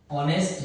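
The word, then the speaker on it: honest: देखिए जरा जैसे आप देखिए यहां पर ऑनेस्ट मैन तो आप देखेंगे यहां पर कि एक्स स्पेलिंग में तो है मगर उसको हम पढ़ते नहीं है। हम इसे ओ से पढ़ते हैं। ऑनेस्ट मैन ओ से आप इसे पढ़ रहे हैं।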